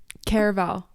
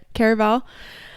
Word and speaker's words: Caraval: Caraval. Did I say it right? Yeah. Caraval.